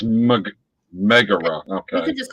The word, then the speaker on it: Megara: I would just like to make sure that I'm pronouncing her name. Megara. It's Megara.